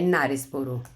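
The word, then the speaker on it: Knaresborough: लोग देख ले सॉरी देखिए आप लोग यहां पे के साइलेंट हो जाता है तो यह है नारेस बोरो ओके यहां पे नारेस बोरो हम के को यहां पे साइलेंट रख लेंगे एंड देन इन 1943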